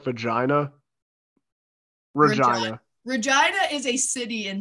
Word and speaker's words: Regina: partner will be like, it's actually Regina, and then they'll start laughing. They're like, your city rhymes with a lady part.